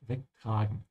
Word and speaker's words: wegtragen: Genau, be careful with the A here, there is no Umlaut, wegtragen.